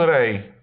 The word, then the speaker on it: rey: Y. W wyrazach czytamy jako polskie J, a osobno jako I. Un rey.